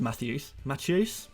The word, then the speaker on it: Matheus: I hope it's pronounced Matthews.